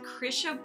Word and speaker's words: Krysia: I am here with Krisha bonus that's how you pronounce it right you have a fake h in your name like it does it's not actually in the spelling the Christian is polish